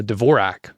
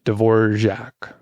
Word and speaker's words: Dvorak: this one's called uh Dvorak or Dvorak which I'm told that's the right way to pronounce it but it's a way